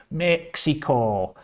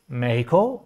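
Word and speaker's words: México: say mexico because they don't know how to pronounce mexico because they say mexico and that's wrong so if you want to say it right you say meiko or you say some variant of that yes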